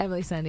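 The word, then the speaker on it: Emeli Sandé: special guest with us today how do i pronounce this right emily sandy emily sandy yeah emily yeah i got to put an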